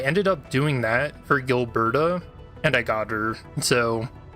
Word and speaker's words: Gilberta: that came out for Yavon and was it Gilbrana?